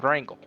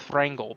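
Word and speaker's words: Wrangel: uh chairman officer named Rangel uh W well it's probably pronounced Frankel because it's w-r-a-n-g-l he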